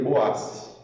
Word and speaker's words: Boaz: Inclusive, existem várias linhas de interpretação da pronúncia de Boaz, tá? Mas a mais aceita, inclusive dentro da maçonaria, é Boaz, tá? Acho que tem Boaz, tem várias outras formas de falar.